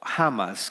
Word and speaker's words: Hamas: Porque lo que ocurrió con Hamas, el ataque bélico que hizo Hamas, que se pronuncia teóricamente en español, entiendo Hamas, fue algo que la semana pasada tomó por sorpresa al pueblo de Israel.